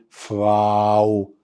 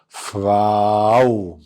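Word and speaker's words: Frau: فراو. فراو. برافو. اهي نجيب قلمنا اهو، انطق معايا فراو.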